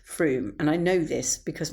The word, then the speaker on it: Frome: Rome wasn't built in a day or should I say fro wasn't built in a day. Although actually I know that it's actually pronounced Froom and I know this because my friend Alexander sniffily told me.